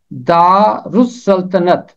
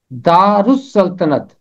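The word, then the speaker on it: دارالسلطنت: ये लफ्ज़ 3 हिस्सों में टूटेगा तलफ़ुज़ के लिए। दारुस सल्तनत, दारुस सल्तनत, ये है इसका दुरुस्त तलफ़ुज़। हवाला है, खुदावंद यूं फरमाता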